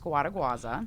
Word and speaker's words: Scuoteguazza: My last name is pronounced Scuoteguazza. What? There's no way. You pronounce every letter in it. It's Italian.